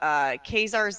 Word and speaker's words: Caesar: You have Khazar's Legion, which is spelled like Caesar.